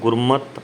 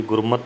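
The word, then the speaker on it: ਗੁਰਮਤਿ: आपा फिर है अगला गुरमत अनुसार चल गुरमत दुर्गे को ठोकर लगी गुरमत दैत्य को जो शहरी लगती है यह शहरी साइलेंट रहेगी गुरमत हो जाएगा गुरमति नहीं होगा कि अगर शब्द से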